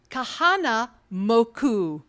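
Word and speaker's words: Kahanamoku: the power of Faith as exemplified by juk Kahana moku did I say it right yes I have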